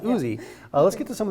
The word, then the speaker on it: Ouzi: spelled o-u-z-e-e i believe o-u-z-e yeah but it's pronounced oozy let's get to some of these recipes so